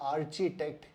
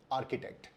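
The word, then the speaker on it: architect: Spelling लगाई तो ये आर्चिटेक्ट होना चाहिए, आर्किटेक्ट कहां से हुआ ये? लेकिन इसका सही उच्चारण है आर्किटेक्ट। वो आर्च है, ये आर्किटेक्ट है।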